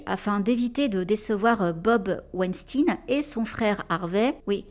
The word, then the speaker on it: Weinstein: l'américaine, pour le coup, c'est pas Weinstein, tout comme c'est pas Epstein, c'est aux States, ils disent Weinstein et Epstein. Ça fait bizarre pour nous français, mais voilà, je le prononce à l'américaine pour le coup.